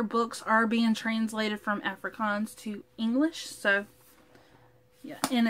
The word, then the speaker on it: Afrikaans: of the language correctly it's a-f-r-i-k-a-a-n-s africans afrikaans i need to hold up afrikaans afrikaans i said it right yay okay so afrikaans this